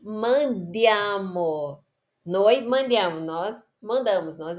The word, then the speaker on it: mandiamo: Eu fico pegando no pé da pronúncia, mas é muito importante. Porque ao invés dela ler mandiamo, ela leu mangiamo.